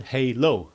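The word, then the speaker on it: HaLow: Um and it's called Halo. Um that's how it's pronounced.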